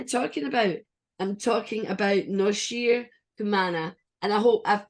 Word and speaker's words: Noshir Kumana: I'm talking about Noshir Kumana. And I hope I've pronounced your name correctly.